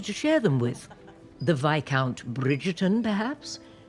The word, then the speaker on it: Viscount: The Viscount Bridgerton, perhaps? I hate the fact the word Viscount has an S and a C in it, neither of which are fucking pronounced.